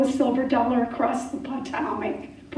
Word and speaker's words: Potomac: So, if George Washington were alive today, why couldn't he throw a silver dollar across the Potomac?